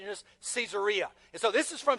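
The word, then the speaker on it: Caesarea: you pronounced it uh Cesaria but but it's named after Caesar. And because it's named after Caesar, better pronunciation is Cesaria.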